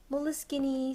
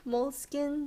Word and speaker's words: Moleskine: comment and saying that it's actually an Italian word and it has nothing to do with moles or skins.